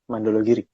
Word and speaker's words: Mandala Giri: Bener kan nih bacanya ya? Mandologiri.